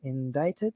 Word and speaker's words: indicted: uh in indict in indicted is that you said indicated indict invited why english is so weird why is there a c here if it's not going to be pronounced um guys make sure